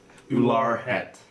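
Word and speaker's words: Ular Bhet: Ular Het. Ular. ULAR space BHET. Reminds me The of B is silent.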